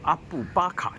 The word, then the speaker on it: Abu Bakar: 刚才的发音一直有错啊，其实这个清真寺应该叫做阿布巴卡清真寺。